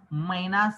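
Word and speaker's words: mynah: बघूया ओळखतोय का तुम्हाला कोणता पक्षी आहे हा मैना मैना बरोबर त्याला जे पण म्हणतात तर त्याला पृथ्वीराज काय म्हणला पृथ्वीराज पण म्हणतात काय म्हणतात जे जे हा पहा ज्याला मैनास नाव आहे मैना इंग्रजीमध्ये पण मैना म्हटलंय मराठीमध्ये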